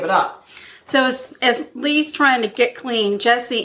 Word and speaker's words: Lea: a drug addict and Leah not Leah sorry I'm sorry I'm sorry her name is Lea it's spelled L e a but pronounced Lea okay so Lea quickly